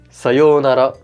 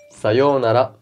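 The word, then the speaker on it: さようなら: devient noguero n'augure tu l'as compris pour bien prononcé sa yo eux n'a là comme un vrai il suffit de dire sayonara sayonara et voilà merci d'avoir regardé la vidéo n'hésite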